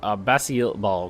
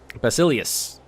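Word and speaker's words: Basileus: hair Mako's approached our Basia ball god I'd never say this right Basilius I always I always say it wrong the first time Basilius and a hushed voice he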